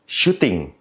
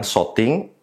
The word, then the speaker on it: shooting: crop jadi crop Factor shooting bukan shting atau shoting shooting aspect ratio sering salah